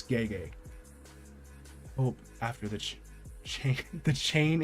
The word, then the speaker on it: Gege: first started I used to say Gigi akutami just because that's how I felt it was pronounced but now I was corrected many times it's gay gay oh after the the